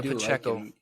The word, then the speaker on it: Pacheco: foreign talked about him yep you said his name wrong oh but Jayco yep Isaiah Pacheco you can tell that the the Chiefs have